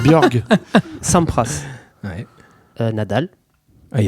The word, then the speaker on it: Borg: T'as mal prononcé Borg. Ouais. C'est Björg.